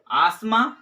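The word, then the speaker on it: asthma: number पर जो है आसमान क्या पढ़ेंगे इसे हम आसमा पढ़ेंगे इसकी जो उच्चारण होगा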